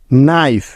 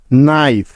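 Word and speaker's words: knife: বা উজ্জ্ব থাকার নিয়ম এন এর আগে কে থাকলে ওই কে টা সাইলেন্ট বা উজ্জ্ব হয়ে যাবে যেমন নো কে এন ও নো নাইফ কে এন আই এফ ই নাইফ knock K এন ও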